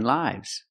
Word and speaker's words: lives: food company called Nine Lives pronunciation lives use the long I like hi and like I lives the S makes the zebra sound Z lives a cat has